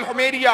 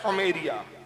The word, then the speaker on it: हुमैरिया: Yemen का बादशाह है तुब्बा अव्वल हुमैरिया, क्या कहना, क्या आमतौर पे हुमैरी पढ़ते हैं उसको, सही प्रोनाउंस है हुमैरिया, हिमेरिया।